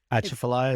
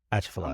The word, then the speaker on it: Atchafalaya: Atchafalaya is how I say it. So let's see how. You're strong on the T. Atchafalaya. I'm good with everything else you're pronouncing. Okay. Stop the T.